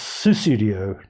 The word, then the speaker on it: Sussudio: pseudo um but it's it's susudio not just sudo so yeah as Lenny